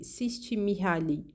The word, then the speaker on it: Csikszentmihalyi: O psicólogo Mihaly, pronuncia-se Csikszentmihalyi, fez mais do que qualquer outra pessoa estudar este estado de atenção sem esforço.